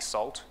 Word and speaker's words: NaCl: the philosophy of libraries like salt which is pronounce nacl which is by Bernstein